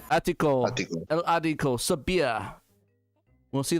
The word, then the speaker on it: ático: Ático. Attico.